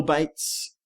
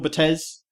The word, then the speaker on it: Bates: Phil Bates commented to say that we were pronouncing his name correctly. Phil Bates, not Phil Batez.